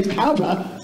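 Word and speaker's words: Poudre: I looked it up, and I said, and I asked, how do you say that? And it said, most commonly mispronounced thing in Colorado, and it said, say, Padra. So, okay.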